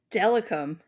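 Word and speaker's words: Steilacoom: Stellicum.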